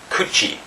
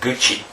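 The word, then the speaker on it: 口: We have kuchi with a K and guchi with a G.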